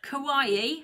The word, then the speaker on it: kawaii: I do like this kind of, and Kelly's going to tell me off because I get the name wrong, kawaii. Have I said it right now? Kawaii, yes.